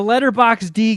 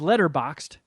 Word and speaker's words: Letterboxd: there so the letterbox d game for people that aren't familiar there's a a movie app called letterboxed that i love and initially mispronounced the name as letterbox d so that sticks so